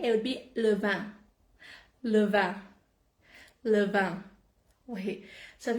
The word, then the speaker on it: le vin: Le vin.